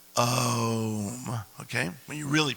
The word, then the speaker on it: Om: Which is actually pronounced Om, okay?